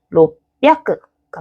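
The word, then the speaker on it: 六百: 이렇게 조금 더 편한 단어를 편하게 말하기 위해서 발음을 고쳐온 것이 기존에 있던 애들을 확 잡아버린 거죠. 그래서 삼비아크가 맞는 표현, 로비아크가 맞는 표현, 합비아크가 맞는 표현입니다.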